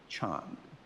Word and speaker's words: Chan: these Sanskrit and poly words they had trouble pronouncing them and so they called them Chan c h an in English so the Chan